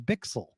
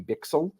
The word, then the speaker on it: Bichsel: have is that maybe the Swiss or even kind of German pronunciation really the the that pronunciation um for like a native speaker would be bixel something like that and you can you